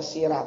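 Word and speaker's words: سيرة: Ya, ini karena transliterasinya ro dipathahkan jadi a, dibaca sirah, bacanya tetap sirah.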